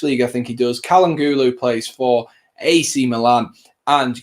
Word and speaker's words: Çalhanoğlu: I know how to pronounce this one as well. Çalhanoğlu, that's it.